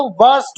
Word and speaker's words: burst: बस्ट नहीं होता, बर्स्ट होता है।